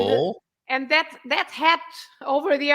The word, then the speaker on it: avô: pronunciation of the letter, but you have to stress at the end. So you say a vo, and Avô.